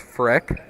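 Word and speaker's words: Frerk: As Justice Freck with the first basket. As that'll be the first points of the night. His last name is spelled F-R-E-R-K. Looks a little bit weird, but it is pronounced Freck.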